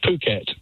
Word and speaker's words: Phuket: I never know quite how to pronounce it, Howard. And remember, this is a family programme, so you go first. It's Phuket.